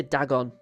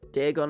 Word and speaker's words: Dagon: most about Deeon is how it's usually Americans pronounce his name. And they always say Dagon cuz that's how they say it in the dub. But like Deeon as a character is just a huge HP